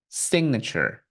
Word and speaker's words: signature: to pronounce s signature signature okay this letter T will not have a t sound listen again signature what else we have